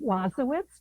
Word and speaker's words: Wasowicz: Well, first of all, thank you for the opportunity and I pronounce my name Wazowitz, but please call me.